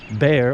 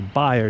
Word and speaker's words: Bayer: by a German company called bear or B High depending on how you pronounce it if you speak German or not so Bayer L Santo